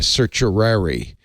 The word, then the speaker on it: certiorari: this yes yesterday and I learned how to pronounce uh certiorari is how you say it and I said